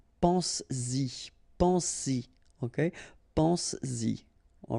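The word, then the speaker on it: penses-y: But then if you put this Y, so this pronoun after, then you will have to put back this S just to produce it orally, because you will pronounce it pense-y, pense-y, okay?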